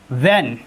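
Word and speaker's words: when: JW plus H बराबर H silent. जैसे वाट, वाट means होता है क्या। व्हेन, व्हेन मीन्स होता है कब।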